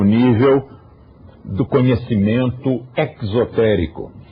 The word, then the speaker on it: exotérico: hermético é o secreto e exotérico esse ex nos remete ao exterior Então sempre que eu pronunciar exotérico Você já sabe o deose não se enganou ele quer pronunciar assim então este é o